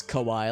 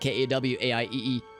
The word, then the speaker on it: Kauai: who loves it there, and the island we were on is called Kauai, not Japanese Kauai like Kawaiee or Kaii. It's a Kau apostrophe I.